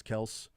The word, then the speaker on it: Kelce: one, where Travis Kelce says that the actual pronunciation of their last name is Kels, but everybody just calls him Kelce, so who cares?